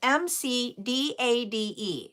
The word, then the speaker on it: McDade: This was Madison and her last name, excuse me, is MC D A D E. So, McDade, I believe is how you pronounce it.